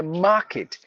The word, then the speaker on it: market: i t sound kit so you have to say Market Market no because the r is mute R is followed by a consonant so m k i